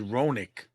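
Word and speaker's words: Hronek: partner Philip ponic oh he said ronic well that's how you say it it's h r o n e k I had to say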